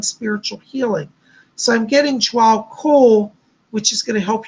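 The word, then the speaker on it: Djwal Khul: But Jwal Kul, it's spelled DJWALKUHAUL, I believe. Jwal, it's pronounced Jwal Kul, is around you.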